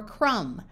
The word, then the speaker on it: crumb: in man and map if you have an M followed by a b the B is often silent like in comb thumb or crumb however if you take